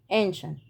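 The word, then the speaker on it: ancient: التانيه ديليشس ديليشس ديليشس عندنا حرف السير في الاولانيه جاي وراه اي اي حرفين متحركين اهو السي جاي وراه حرفين متحركين فاتنطقت السي دي ش ش ش شي انشنت ش انشنت ش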